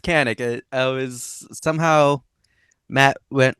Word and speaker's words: Kanik: Proper way of saying it is Kanik.